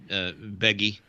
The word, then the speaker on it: Beghe: And in that movie, her man, Jason Bege, that guy? Sure. Jason Bege? You spell that. Beghe. I've never known how to say it. Beghe. Yeah, Beggy.